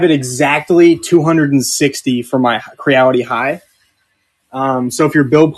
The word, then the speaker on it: Creality: It's like reality, but with a C in front of it. Right there. Creality.